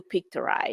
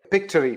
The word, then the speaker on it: Pictory: so in my previous am I saying it wrong like I basically say said it a 100 times the wrong way pictory pictory all right not to self and that's okay that's all right picture story that's kind of where